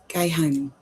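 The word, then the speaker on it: geh heim: He's It's pronounced go, like guy, like the word guy, and home, like Heim, Hime, Hime, I guess. Geheim.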